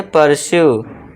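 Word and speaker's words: pursue: जब किसी वर्ड के लास्ट में यू इ आए तो यू ई का उच्चारण भी लॉन्ग यू से ही करना है। अब सभी में यू ई है तो इसमें क्या हो जाएगा? एग्जांपल देखिए। इसे क्या पढ़ेंगे? पर्स्यू।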